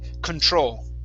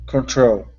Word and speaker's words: control: to control okay so this is exactly like spanish okay so the stress is at the end control control good good okay here